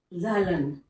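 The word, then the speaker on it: Zahlen: Integers आप कहने z, z माने ज़ालन, ज़ालन इथों में बनया, ये कोई जर्मन वर्ड है। ठीक है, तो ये प्रोनाउंसिएशन मैं तो ज़ालन ही बोल रही हाँ।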